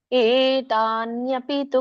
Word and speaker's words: ಏತಾನ್ಯಪಿ ತು: ಬಟ್ ಎ ಅನ್ನುವಂಥದ್ದು ದೊಡ್ಡ ಎ ಇದೆ.